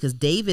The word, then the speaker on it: D4vd: It's spelled D4vd, David or whatever.